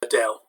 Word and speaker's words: Adele: favorite singer is adele notice you don't need to break it into the spanish-style pronunciation of adelaide because when you've got a name of something often if it's taken from another language like this is taken from english then you can pronounce it the english way tambien also i play